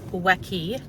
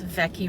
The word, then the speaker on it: Weke: which might look like wacky w-e-k-e road but in Hawaiian W's are pronounced like V's so it's vecky Road to me Becky